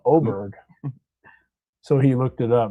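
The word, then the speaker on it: Åberg: A with the circle over the A, and he was like Auberg, and I was like, no, Oberg. So he looked it up and he's like, oh yeah, it's Oberg.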